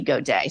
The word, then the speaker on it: Gaudet: I said, Rob, how do you say this? And he said, no, it would just be Gaudet.